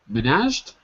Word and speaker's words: managed: what H the Menage managed Min yes no no man no no so so switch the the stress the stress is on the first syllable man yeah managed managed